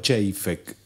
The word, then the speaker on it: Chejfec: Mi padre pronunciaba Chejfek, y cuando se trataba